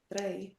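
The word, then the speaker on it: dräi: So the first one would be pronounced drei, but Drei. that's not correct. The correct answer to say 3 is the last option there, drei.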